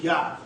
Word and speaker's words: Yah: We know it's written Jah, but there's no J in the Hebrew, so it's supposed to be Yah. By MASHAYACH YAHAWASHI.